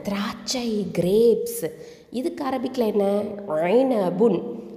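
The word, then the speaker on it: عنب: ஐனபுன். ஐன் கெசரா ஐ, noon ஃபத்ஹான ஐன, ப தொம்மத்தைன் புன், ஐனபுன். Okay, ஐனபுன். ஐன் நடுத்தொண்டையிலேருந்து உச்சரிக்கணும், ஐனபுன், சரியா?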